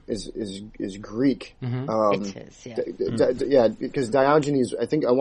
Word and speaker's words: Diogenes: my aspect which was the how did you pronounce it Rebecca do gina's Diogenes no Chinese in it yeah and I believe it I believe that's right on you 19 that sounds good that sounds good Diogenes I think is uh is is Greek yet